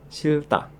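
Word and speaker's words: 싫다: Misalkan ada kosakata benci atau tidak mau dibacanya silta. Silta.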